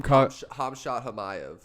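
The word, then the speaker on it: Khamzat Chimaev: Hamshat Chimaev. Hamshat Chimaev? That's how you pronounce his name?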